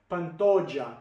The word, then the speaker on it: Pantoja: How do you say that name? Pantoja.